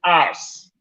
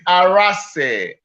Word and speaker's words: Arase: I take, for instance, Mr. Bond to call me Arse. Hey. Frank Rajah Arse. Navo will say Frank Rajah Arase. Like a lot. Some will say Arase. Why don't you tell us? You pronounce it today. It's Arase. Frank Rajah Arase.